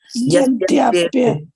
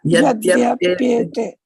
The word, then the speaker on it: yady apy ete: So try to pronounce it together. Yadyapyate. Yeah. Yadyapyate. Yeah.